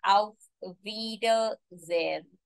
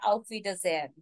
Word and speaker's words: Auf Wiedersehen: Auf Wiedersehen. I repeat. Auf Wiedersehen. You have to break this word in 3 sections for better pronunciation. Although it's one word, so final pronunciation will be Auf Wiedersehen.